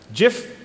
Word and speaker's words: GIF: GIF or GIF? Do I have to leave? GIF. GIF. GIF, because that's how the creator pronounced it.